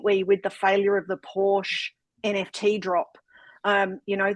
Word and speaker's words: Porsche: their Community went not a good idea we pronounce it Porsche but keep going ultimately I think they